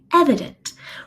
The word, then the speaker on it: evident: Evident. We know that first E is the stressed sound, but the second one is the schwa sound.